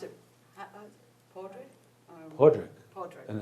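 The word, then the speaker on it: Padraic: me am I right or is that correct poric poric Patrick spell p a d r a i c and I always just porri yeah but she pronounced it porri Podrick Podrick and it's a she it's a he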